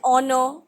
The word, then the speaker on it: honor: the letter h why because h is silent an hour and honor okay we use and